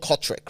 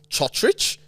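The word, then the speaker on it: Cotric: So there was a player whose last name, he used to be called Kotrick, right? Nick Kotrick. He Yep. plays for the Raiders. Kotric. But now that they're starting to pronounce names properly, apparently his name is pronounced Chotrich, Chotrich.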